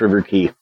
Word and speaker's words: River Quay: key River key yeah it's pronounced River key uh there used to